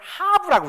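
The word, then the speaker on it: הב: 그리고 이 뒤에 글자, 이거는 하브라고 읽어요. 하하브.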